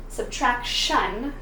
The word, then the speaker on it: subtraction: I add ion, which is pronounced shun with that T, subtraction, and now I have a thing.